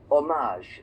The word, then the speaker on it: hommage: In English, we say hommage, but in French is hommage. They don't make the H.